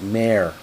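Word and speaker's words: Mair: Keep in mind that Frank Lloyd Wright was of Welsh descent, and the Welsh name for Mary is Mare. which is phonetically pronounced very similar to the English word more.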